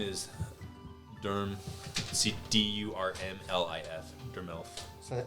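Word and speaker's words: Durmlif: Durmelf. So spell that one more time.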